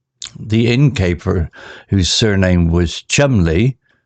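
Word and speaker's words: Cholmondeley: fresh bread baking the incer whose surname was Chumley pronounced Chum Le offered them a room sir Worster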